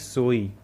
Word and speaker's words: soy: The last y is pronounced as e, so it is soy.